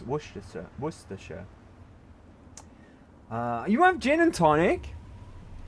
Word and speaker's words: Worcester: And the way it's spelled, it should be Warchester, but it's pronounced Worcester.